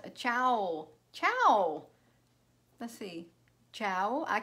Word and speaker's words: ciao: trouble like that hello Tammy Oh Co is pronounced a ciao ciao the see ciao I can see where